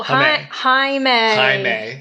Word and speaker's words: Jaime: No, Jaime. Jaime. We got it. It's spelled like Jamie.